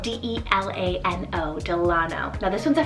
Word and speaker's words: Delano: Next up on the boy side, we have the name Delano, spelled D-E-L-A-N-O, Delano.